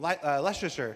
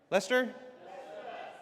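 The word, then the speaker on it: Leicester: Photos from Leasher. How do you say? Is that Leasher? Lester.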